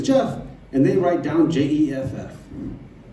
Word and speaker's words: Geoff: my driver's license and thinks it still says g off it's true a country with british english spelling and you guys don't get it wrong all the time or i say my name is jeff and they write down